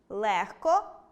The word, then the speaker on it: легко: Але варто затямити й деякі винятки: оглушення відбувається у словах “нігті”, “кігті”, “легко”, “вогко”, “дьогтю” та похідних від них. У вимові цих слів чуємо звук [х].